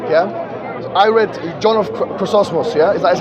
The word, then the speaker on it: Chrysostom: Yeah, I read John of Chrysostom. Yeah, is that how you pronounce his name? Chrysostom.